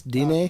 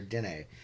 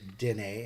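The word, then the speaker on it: Diné: So just a real quick, when referring to Navajo people, should I call them Navajo or Dine? Depending on what language you speak, most people butcher Dine and say Dine.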